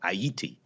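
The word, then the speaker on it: Ayiti: the spelling was it what pronunciation was like aiti a-y-i-t-i something like the IET right okay right because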